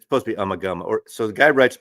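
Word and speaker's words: Ummagumma: I used to always my historic uh pronunciation is Umaguma. That album apparently it's Umagama. Okay, give me a break. Call it Uma. I did too. But anyways, it's supposed to be Umagama.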